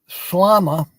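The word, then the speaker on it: ܫܠܡܐ: But when I learned how to pronounce it, I was like, okay, just think of llama and then say shlama.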